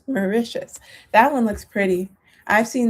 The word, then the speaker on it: Mauritius: I'm gonna look up the pronunciation. Mauritius, not Mauritius, Mauritius.